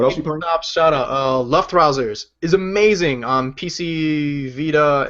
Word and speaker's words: Luftrausers: Because people have it go like left trousers. Luftrausers. I think it's supposed to be like fake German, so you say like Luftrausers.